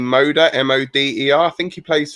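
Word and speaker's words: Moder: um the poland go i think they pronounced his name moda m-o-d-e-r i think he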